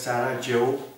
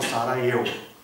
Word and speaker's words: Sarajevo: He visited capital of Bosnia, that is called as Sarajevo or Sarajevo. That there is confusion between pronunciation of J. As we discussed in earlier history lecture also, in variety of world language, there is confusion between J and pronunciation of J and pronunciation of Y. In India also you are aware Yamuna or Jamuna, like that Y and J confusion is there.